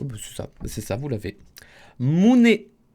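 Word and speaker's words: 胸: la poitrine se dit en japonais Alors, comment prononcez-vous la poitrine en japonais? Oh, bah, c'est ça, vous l'avez. Mune. Mune.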